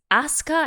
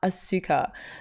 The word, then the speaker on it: Asuka: best girl's name properly so it's oscar and not asuka the the suit is shortened like death instead of desu uh i feel for